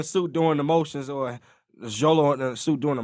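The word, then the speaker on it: Xolo: take notes on well look at the actor Zolo that's how you pronounce his name yeah yeah let's just look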